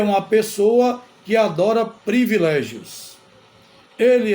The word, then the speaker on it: privilégio: que causa Muita confusão privilégio é escrito com i pri p r i e não é escrito com e privilégio privilégio não existe o que existe é privilégio por qu porque essa é a forma correta ou seja neste caso o som é de i e a escrita também é